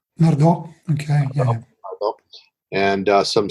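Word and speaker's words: Nardò: countryside, just outside of, I believe it's pronounced Nardo. Nardo, okay, yeah.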